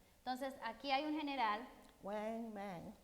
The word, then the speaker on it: Wang Mang: Entonces aquí hay un general, Wang Mang. Wang Mang. Oh, you're better than me. It rhymes with dang.